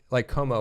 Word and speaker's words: Comeaux: So Como is spelled Cajun, like we were talking about. Wait. COMEAUX.